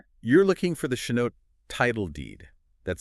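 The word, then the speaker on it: chanote: You're looking for the Chinote title deed. That's spelled C H A N O T E.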